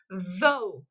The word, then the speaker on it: though: O GH a gente ignora na hora de pronunciar, certo?